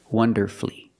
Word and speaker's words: wonderfully: But with words like these, masterfully, beautifully, and wonderfully, you have two syllables before F-U-L-L-Y, but the stress is on the first syllable. In this case, the U is silent.